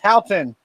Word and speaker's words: Houghton: It's pronounced Houghton.